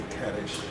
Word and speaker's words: kaddish: Um, it's a kadish.